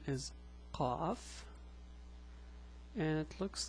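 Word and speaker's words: ق: Now, the pronunciation is a bit hard. It's Qa, not Ka, it's Qa. There's a difference and I'll show it to you later in this video.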